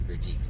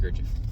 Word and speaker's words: Gurdjieff: I've always said Gurdjieff, but it's actually pronounced Gurdjieff.